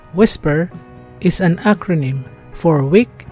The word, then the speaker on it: WSPR: my qth let's begin wspr pronounced whisper is an acronym for